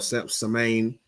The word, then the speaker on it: Samhain: That's what it's Sam Hain. If you type it in online, it's spelled like Sam Hain, but it's pronounced Samhain or Samain.